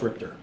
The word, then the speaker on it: RIPTA: Spelled RIPTA, pronounced RIPTA.